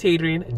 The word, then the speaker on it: Hadrian: It's Hadrian, just like it's spelled here.